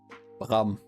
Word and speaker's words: Bram: Spell or pronounce. It's Bram.